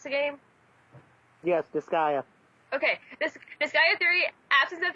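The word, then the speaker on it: Disgaea: one wasn't my fault anyways this is it disaya is that is that how you pronounce the game yes disaya okay disa three absence of the attention goes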